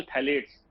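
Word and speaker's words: phthalates: उसके बाद ये केमिकल लीच करता है जिसमें मेन केमिकल है BSA, बिस्फेनॉल ए, दूसरा केमिकल थैलेट्स, पी साइलेंट है, PTHALATES, थैलेट्स।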